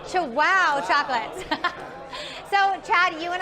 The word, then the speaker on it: Chihuahua: So we are here with Sergio Alvarez of Chihuahua Chocolates. Did I say it right? That's right. You chew and you say wow. Chihuahua Chocolates.